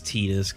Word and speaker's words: Tidus: And it is Tidus, guys. That is how you pronounce that.